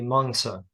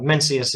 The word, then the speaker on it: Mencius: about the mencius now I think a better pronunciation would be mongsa but I'm sure even that is flawed mencius is a perfectly acceptable English pronunciation of the name as it has been translated into English so mencius mencius is